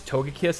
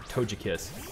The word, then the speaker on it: Togekiss: sound just for you there's some people that that pronounce togekiss as as tojikis and when i heard